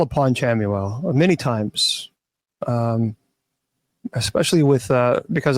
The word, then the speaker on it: Chamuel: Chamuel. Yeah, there are many different pronunciations I've heard, but Chamuel. Some people say Camuel.